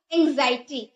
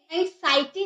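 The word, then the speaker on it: anxiety: एंग्जायटी। इसका एक्स इसको नहीं पढ़ेंगे। एंग्जाइटटी नहीं पढ़ेंगे। क्या पढ़ेंगे हम इसे? ज का। ये एक्स है ना इसको ज में प्रोनाउंस करेंगे।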